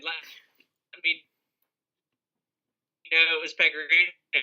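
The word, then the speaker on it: Pekka Rinne: didn't have to start Pecorine. I'm glad you pronounced his name right this time. Yeah, to let y'all know how little I know about hockey, I thought it was P. Ryan the whole season until my friend Brandon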